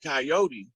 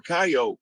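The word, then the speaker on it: Kiot: spelled that way and it's sounds like coyote or coyote but it's a tribe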